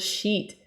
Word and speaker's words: sheet: music sheet music please be careful when you pronounce the word sheet it's e like this e not CU is